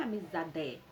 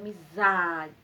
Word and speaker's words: amizade: forte então fica amizade se fosse o d ficaria amizade amizade a palavra não é amizade a palavra é amizade amizade Isso significa que